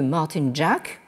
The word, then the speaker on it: Martin Jacques: que nous avons cité la dernière fois Monsieur Martin Jack ça s'écrit Martin Jacques bon qui nous dit China